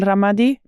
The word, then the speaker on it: Ramadi: They finally they ended up in a camp in Al Ramadi. Yes. Am I pronouncing Ramadi, correctly?